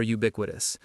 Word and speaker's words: ubiquitous: It has four syllables. U quas. The stress is on the second syllable. B. Ubiquitous.